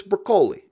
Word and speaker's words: Broccoli: or the broccoli family I'd never known any pronounce weathers pronounce broccoli or broccoli whatever if they're Italian it's brocoli anyway so how did they